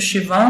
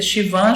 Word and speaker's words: Schwann: Eu pronuncio Schwann, mas pode ser Schwann, Schwann, como vocês quiserem falar.